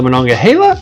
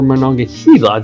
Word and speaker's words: Monongahela: and it crosses over the monongahela or monongahela depends how you pronounce it river now it's